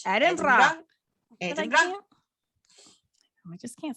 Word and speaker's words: Edinburgh: That one needs to be done, but that's kind of Edinburgh related. You almost said it right. Edinburgh. Yeah, just imagine that you're wearing a woman's undergarment. Edinburgh.